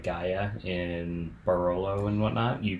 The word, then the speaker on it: Gaja: So a number of the places like Gaia in Barolo and whatnot, you can't just go to the vineyard. Gaia is spelled Gaja, and it's sold in the U.S.